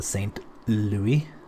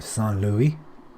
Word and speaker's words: Saint Louis: land well behind him the saint louis or san luis how the french would pronounce it targeted ship they can't